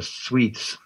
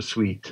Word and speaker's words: suite: Let's have a brief look at the software suites. You say suit or sweet. I never know. Sweet. Here in the UK, we say sweet.